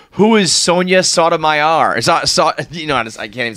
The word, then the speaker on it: Sotomayor: How do you say it's Sotomayor, right?